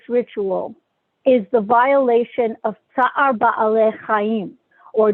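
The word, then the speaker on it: Tza'ar Ba'alei Chayim: is the violation of Tsar Ba'alei Chaim, or Tsar Bolachayim, the way it's pronounced in some circles.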